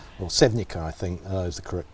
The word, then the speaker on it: Sevnica: Sevnica, or Sevnica, I think is the correct pronunciation.